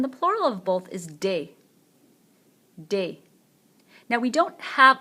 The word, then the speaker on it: des: And then the plural of both is des. Des. Now we don't have a plural indefinite article in English. In French we do. It means some. Can mean some as well. So un garçon, a boy. Des garçons, some boys, or just boys.